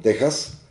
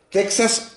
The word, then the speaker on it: Texas: Bueno, como tiene una X, yo prefiero equiparar a la palabra México, que también tiene una X, pero lo pronunciamos con sonido de J en esta derivación española de las propias lenguas indígenas. Así que, como no decimos México, porque no somos gringos, decimos México, yo prefiero decir Texas en lugar de decir Texas.